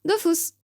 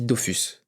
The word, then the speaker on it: Dofus: Dofus. Alors je t'arrête tout de suite, personne dit ça en fait, tout le monde dit Dofus. Ouais, je sais, mais premièrement, les développeurs, eux, le prononcent Dofus.